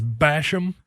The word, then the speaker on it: Basham: the linebacker from Florida how do you say the defensive end from Ohio's name Terrell Basham Basham Basham that should move him up 10 spots his name is Basham 43 about 20 spots